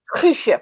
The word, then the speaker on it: Guusje: be honest no and it's pronounced cruise ship with a very hard G in the bathroom she